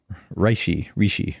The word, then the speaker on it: reishi: Next up, Reishi. How do I say it right? Reishi mushroom. Reishi. In Australia is how we say it.